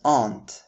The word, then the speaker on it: aunt: It's important to remember that our focus is still on the American pronunciation because the word on the right might be pronounced as aunt in the British accent.